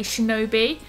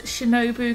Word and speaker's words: Shinobu: akira hokuto shinobu i just want to say shinobi so to say it right once on this